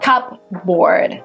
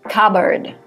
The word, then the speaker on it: cupboard: The P is silent, so it's not cupboard, it's cupboard.